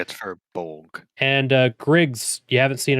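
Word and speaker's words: Firbolg: Furbolg? Is that how you say it? I think Furbolg. Furbolg. Yeah, it's Furbolg.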